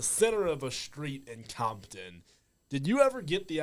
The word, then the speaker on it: Compton: the middle, literally out in the middle of Compton, California. Like off Crenshaw Boulevard in Compton. Didn't get to do it. We did it. Is it pronounced Compton or Campton over there? Campton.